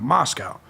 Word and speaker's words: Moscow: Idaho College Town of Moscow pronounced like the Russian Capital but to rhyme with Costco I don't give a